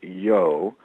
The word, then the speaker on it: Yeo: out of Melchizedek and he has an associate whose name is yo but it's spelled yeo so those that's the